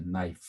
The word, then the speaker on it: knife: 그 예들 knife, K, E 발음이 안 되죠. 그리고 E도 I로 발음이 됐어요. knife.